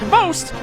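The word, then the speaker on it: XBOCT: Xbox, which is somehow pronounced Vost, or as I like to call him, Xbox, has been the founding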